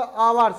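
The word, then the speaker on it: hours: जैसे हमारे पास आगा आवर्स, इसको क्या पढ़ते हैं, आ मतलब एच से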